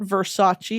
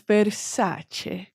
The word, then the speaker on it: Versace: And you want to know it's not Versace, it's Versace.